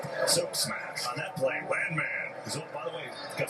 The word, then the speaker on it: Landman: Landman is there again. You know, his last name it's pronounced Landman. Landman. but he says he likes it when he makes a big play. It's landman.